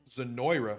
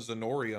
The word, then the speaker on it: Zenoira: Zenoira. Have I been saying it wrong this whole time? I called it Zenoria.